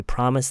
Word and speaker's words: promised: And when you say this, don't pronounce the d. Okay? It's a silent d. Just go straight into the t uh th. Okay? So they promised they would do better next time.